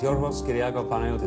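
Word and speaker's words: Yorgos Kyriacos Panayiotou: My name is Yorgos Kyriago Panayotou. That's really how it's said. It's wonderful. Yorgos Kyriago Panayotou.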